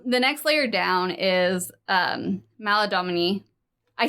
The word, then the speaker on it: Maladomini: So the next layer down is Maladomini.